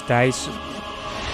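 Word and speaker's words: Thijs: my name is thais actually my name is dice but everyone pronounce it as thais are you stupid have you not mastered the dutch language yet we live in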